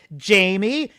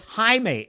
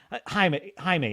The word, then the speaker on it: Jaime: She's supposed to be reading Jaime, and she pronounces it phonetically in the English way. And she says, "Jamie, is that your name, Jamie?" And then he says, "No, my name is Jaime."